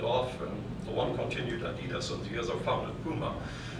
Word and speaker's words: Adidas: Companies like, you call them Adidas, we pronounce them Adidas, or Puma.